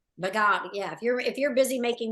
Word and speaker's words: Vaghareli: I'm not, you know, if you're busy making your, how do you pronounce it? Vaghareli. Vaghareli, yeah.